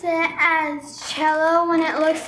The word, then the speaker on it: cello: But the instrument, the origin of this family of violins, cello violin, the origin is from Italy in 16th, 17th century. And that's the reason why we still use the Italian pronunciation.